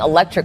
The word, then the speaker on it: electric: 이건 5개의 모음 A, E, I, O, U가 단어 안에서 약강세 위치에 있을 때는 모두가 똑같은 발음, 중모음 어로 발음된다는 건데요. 이 부분 다시 한번 들어보실까요? A self-driving electric car.